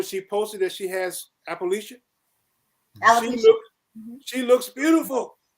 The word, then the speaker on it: alopecia: how you pronounce it? Appalachian? How you pronounce it? Yeah, Appalachian. I think. You know, one of the cast members. Alopecia.